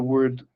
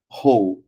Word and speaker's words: whole: the pronunciation of the word ho right this word is important because um the the W uh in the beginning of that word it's pronounced like a an H so you don't say